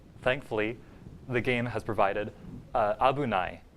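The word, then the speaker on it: 危ない: Thankfully, the game has provided abunai. It's pronounced abunai, and here it's actually just it's conjugated abunaku naru to, which is like if it becomes or when it becomes unsafe.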